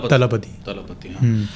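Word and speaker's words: Thalapathy: तो इससे ये साउथ के कैरेक्टर है विजय थलपति, तो लोग विजय थलपति, मतलब नॉर्थ में तो लोग उसको विजय थलपति करते हैं, जबकि उसका सही प्रोनाउंसिएशन है विजय तलपति।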